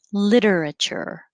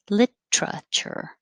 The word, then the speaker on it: literature: mouth literary and four you have two options you can say literature literature one two three four literature or you can make it shorter and say literature literature literature and five you